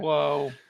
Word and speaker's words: Palou: I might have read Pato and it came out.